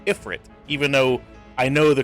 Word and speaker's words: Ifrit: i pronounce it now like ifrit i say ifrit even though i know the correct pronunciation is freet but i don't say it that way you